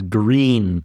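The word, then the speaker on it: Gruene: It's called uh they pronounce it in Texas as green Texas, but it's literally spelled Grun just like the color green in German.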